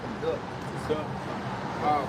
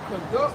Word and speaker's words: conduct: Conduct conduct to it's spelled the same, but it's pronounced different pertaining to the meaning and the context.